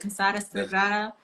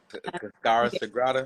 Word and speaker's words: Cascara Sagrada: Casara Sagrada. Cascara Sagrada.